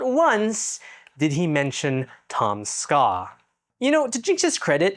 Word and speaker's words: Tom Ska: creator of the series, Tom Ska, in any way, it's just 2 syllables, bro. Tom Ska.